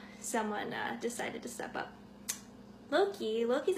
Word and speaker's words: Locke: Her relationship with her best friend Loki is purely platonic for now, but things could go romantic if someone decided to step up. Loki's actually spelled L-O-C-K-E, but it's pronounced Loki, and he doesn't really like answering why it's like that.